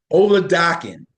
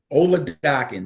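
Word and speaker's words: Oladokun: Ola Dakan. Ola Dakan.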